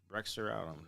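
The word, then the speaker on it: Bexar: uh, I think it's Brexer. I don't know how you pronounce it. Bear County, because it was with an X, but you don't pronounce the X.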